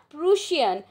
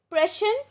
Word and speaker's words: Prussian: when the prussian pressure not prusion please learn the correct pronunciation prussian forces under bismarck under